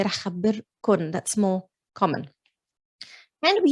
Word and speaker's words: راح خبركن: But in Lebanese, it's راح خبركن, always with the noon. We pronounce it with the noon, although you might find it written like this, but we say راح خبركن.